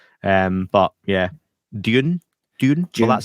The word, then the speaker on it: Dune: versus British but yeah Dune apparently is not told how you say it not June but yeah both are